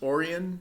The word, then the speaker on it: Orien: But Orion's Belts, or as it should be pronounced, Orien, but I'm a big fan of puns, is a location in Eve Echoes.